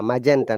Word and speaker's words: magenta: It should be ja, magenta, not magenta. Magenta. Yes, teacher. It's really confusing. Magenta. Don't Magenta, right? don't be confused once again, Mohammed, because it is a soft G.